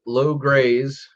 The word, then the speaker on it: Logres: which is actually pronounced lo graze like lowdown grazing like a cow because it's based on